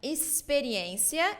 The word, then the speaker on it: experiência: So you say experiência, it's S sound.